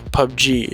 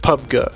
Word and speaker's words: PUBG: for you playerunknowns Battleground some people call it Pub G we call those people illiterate a subset of those people pronounce it pubga we refer to them as